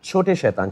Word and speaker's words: छोटे शैतान: Chote shaitan.